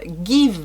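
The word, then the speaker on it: GXVE: tout cas la giz give beauty puisque c'est comme ça que se prononce la marque malgré le x en fait c'est gx v e beauty mais ça se prononce big beauty sachez le alors la collection a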